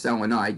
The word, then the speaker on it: selenide: sulphide selenium becomes selenide and that's how you say it's selenide you change the accent tellurium becomes telluride you